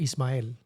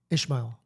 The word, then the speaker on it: Ismael: Yeah, because you always say my name in English, not Spanish. Right, yeah, Ishmael. Yeah. Okay. Yeah, which is weird. It doesn't have an H in it, but for some reason there's an H when people pronounce it.